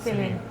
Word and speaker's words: Selin: In Turkish it's Selin, but I thought that I wanted her to have a name like my name that's pronounced by different ways by different people, so I think it's all okay. It's all okay. Yeah. But in Turkish should be Selin.